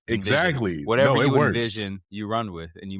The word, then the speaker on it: NVZN: So, it's actually pronounced Envision.